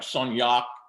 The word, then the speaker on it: Saunhac: So the original spelling and the original pronunciation would have been something like Soniat, and Soniat, as the name is spelled today, is a phonetic spelling.